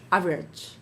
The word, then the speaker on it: average: Average. How many syllables?